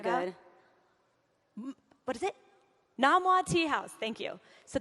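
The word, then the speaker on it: Nom Wah: Dim Sum at No Sum Tea House. Am I saying it right? Do you guys know what I'm Very talking about? good. What is it? Namwa Tea House.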